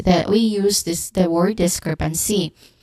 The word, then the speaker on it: discrepancy: Pronunciation wise, we start with this, the first syllable, which has a short e sound and ends with a hissing sound, and then followed by the stressed syllable crep, which has a short S